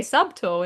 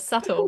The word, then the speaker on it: subtle: I used to say sub tall instead of subtle.